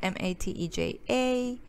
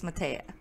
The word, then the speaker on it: Mateja: eva stop matea that's m a t e j a and yes that's how you pronounce my name it's not matija mateja or any other variation it's matea and yeah thanks for